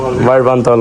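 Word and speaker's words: വാഴ്വാന്തോൾ: How you pronounce the waterfall? Varasa? Vaഴവാന്തോൾ waterfall. How do we say let's go to Vaഴവാന്തോൾ waterfall?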